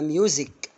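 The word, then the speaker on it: music: كلكم بتقولوها بقول ميوزيك ولا ميوزيك مظبوط يبقى ميوزك سبب اللي هي كلمه ايه ها ريزون ريزون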